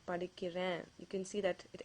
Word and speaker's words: படிக்கிறேன்: You can say நான் படிக்கிறேன்.